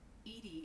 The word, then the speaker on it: EDI: why are you named Edie Edie is the phonetic pronunciation of EDI that is an acronym for enhanced defense intelligence yeah I'm pretty sure